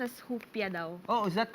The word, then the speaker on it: Rupia: ink it's pronounced as hupia daw oh is that correct hupia in portuguese. It's so in Portuguese you pronounce R as H.